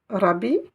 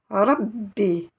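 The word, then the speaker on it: رَبِّ: la voyelle i bi vous avez une chda alors comment va-t-on le prononcer Rabi non Rabbi Rabbi Rabbi et voici la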